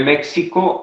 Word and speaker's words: México: decía hace un momento muchas veces le damos el nombre o el sonido de jota por ejemplo méxico se escribe méxico y se dice méxico texas el estado de